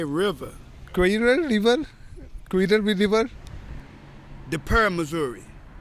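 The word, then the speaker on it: Cuivre River: a French word and River the English way qu River okay and what does that word mean the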